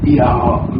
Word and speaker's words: Yahweh: Bon, en tout cas, dans leur langue, ils vont prononcer un son qui est quand même difficile pour nous de prononcer. Ils vont dire Yahweh. Mais comme nous parlons en français, on ne peut pas prononcer ce nom. Là, chez nous, on dit Jéhovah en français.